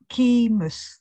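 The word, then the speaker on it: chiasmus: on while you're looking through can you just spell that word for me again that was key keemus yes c-h-i-a-m-u-s a-m-u-s yes because that is very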